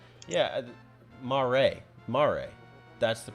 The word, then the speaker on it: mare: derived from the italian word for c yeah ma ray mare that's the pronunciation italian i don't so the are you